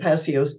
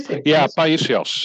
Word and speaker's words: Paisios: Passios. Am I saying it correctly? Paisios.